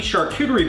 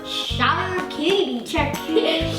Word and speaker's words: charcuterie: Thanksgiving is all about the food, so we are gonna do our best to recreate this cool turkey charcuterie board. How do you say that word? Charcuterie.